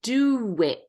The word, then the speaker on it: do it: want you to notice there's uh the shadow of a w there's a was sound so that we can smoothly connect the word do and it do it there's a w do whoa do it do it do it